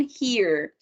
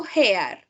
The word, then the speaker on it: hear: Because it's no hair. It's no hair. Like it's E. Like E, right? Like the Spanish E.